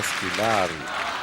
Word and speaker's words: Squillari: Allez, on va le prononcer bien, Scolari.